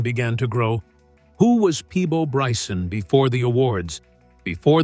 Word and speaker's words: Peabo: him as a child was not exactly Peabo. It was closer to Pepo. As he grew older and spent more time around musicians and performers, people around him struggled to pronounce the name correctly. Little by little, the sound changed. Eventually, people started saying Peabo more often, and the name stayed.